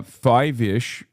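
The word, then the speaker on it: Feivish: Uh, fiveish, pronounced the same from the Greek name Feebis.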